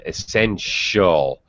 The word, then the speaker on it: essential: even uh irving even even essential doesn't sound like a t at all it actually sounds like s-h he sent like ship and sheep essential essential artificial okay